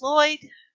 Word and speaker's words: Lloyd: Last name is Lloyd. One of the L's is silent.